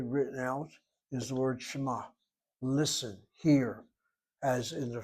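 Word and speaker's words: שמע: You hear an M sound.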